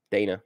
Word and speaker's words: Dana: how are you Dana my name is Dana not Donna it's Dana know why I keep messing up your name I have something out here that leads to a notion called Dana Point and it's spelled da na that's how I know it's Dana yeah I'm gonna I'm